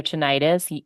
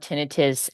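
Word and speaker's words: tinnitus: know and understand about tinius or ttis either either um pronunciation is is correct is that we we really think about tinius as as a symptom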